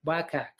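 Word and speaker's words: WCAG: maybe earlier wak 2.3 what is wak web content accessibility guidelines also know as is pronounced like wak wak okay uh wak is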